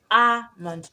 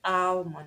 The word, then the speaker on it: almond: Example, there is almond, ALMOND, almond. Remember that word is not almond, but almond.